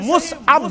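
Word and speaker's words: مصعب: मुसअब बिन उमैर अछ पढ़न मुसअब मगर प्रोनाउंसिएशन छ सही मुसअब बिन उमैर रदियल्लाहु तआला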